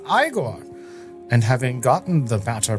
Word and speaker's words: Igor: Igigore tells Frederick that his name is pronounced Igore, and having gotten the matter pronunciation settled, travel